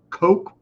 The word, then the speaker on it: Koch: It's not the Coke Cokes. Koch brothers. I don't know why they and it's spelled like coach but they say coke so everybody knows the coke brothers craft it's